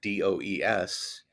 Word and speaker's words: does: You know, um, the AI voice sees the word spelled D O E S and instead of saying, “he does not,” it says, “He dose not.”